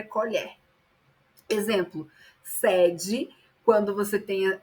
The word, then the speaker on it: sede: e ele já tem um um som mais aberto por com som de acento circunflexo, significa secura, necessidade de ingerir líquido. Perceba que sede e sede ambos se escrevem da mesma forma, mas a pronúncia muda, tá?